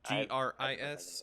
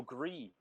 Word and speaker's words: Gris: Oh, Gree. Gree? Is it just Gree? Yeah, it's gray in French, I believe. Ah, well, that would explain it. There's an extra letter in there that doesn't make a sound.